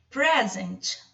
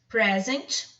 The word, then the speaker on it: present: Present, present, presente, ok? É um substantivo. Agora, present já é um verbo, é o verbo apresentar.